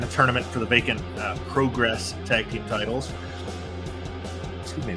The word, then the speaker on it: Progress: England, a regular in Progress, or I guess Progress. He teams with Ethan Allen, who we saw. Was that last week? I can't remember. I can't believe I just realized that it's pronounced progress.